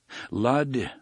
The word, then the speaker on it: Lud: It rhymes with crud, Eddie said.